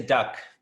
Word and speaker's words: duct tape: this stuff duct tape which I will not work on pronouncing perfectly and properly for the rest of time because it's it's easier to just say duct but the T is silent I suppose anyway this stuff here that